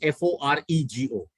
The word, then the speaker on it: forego: f-o-r-g-o second one is f-o-r-e-g-o again the pronunciation is the same i'll give you all